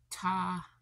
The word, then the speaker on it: Tabiona: Tabiano, Utah. It's Tabiona.